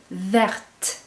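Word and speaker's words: verte: that's the masculine but when you notice the feminine listen to it vert you're going to hear that t why because the E is there now same with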